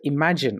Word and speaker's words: Imagen: The feature Imagine on Vertex AI, that's spelled IMAGEN, can help you generate automated image descriptions.